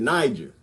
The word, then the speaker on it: Niger: not pronouncing that Nick in this year I pronounce it Niger I like Niger little buddy nobody in Niger